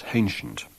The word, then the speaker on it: ancient: We have a hypercorrect H in the word ancient, pronounced as hancient.